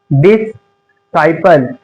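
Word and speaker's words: disciple: एस के बाद अगर सी आए तो सी साइलेंट होगा। जैसे साइन सिंग डि मसल्स क्या यह मसल्स डिसिपल क्या है? डिसाइपल क्या है ये?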